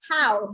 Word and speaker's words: Tao: Everybody call me Tao. You know, it's like the Tao.